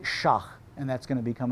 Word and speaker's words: sheikh: Now, they have holy orders, they have religious professionals, sheikhs, they pronounce it shah, and that's going to become important to us.